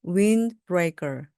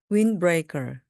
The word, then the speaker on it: windbreaker: windbreaker, windbreaker, windbreaker입니다. 네, 들으시는 것처럼 wind 할 때 D 발음이 나지 않는데요. N 다음에 D는 거의 발음이 되지 않습니다. 그래서 그냥 windbreaker, windbreaker, 바람막이입니다.